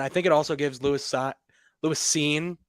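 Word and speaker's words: Lewis Cine: think it also gives Louis scene is how it's pronounced if I remember correctly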